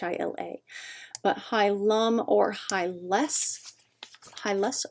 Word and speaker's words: hilum: is actually high ma h IL a but high Lum or high less high less are both the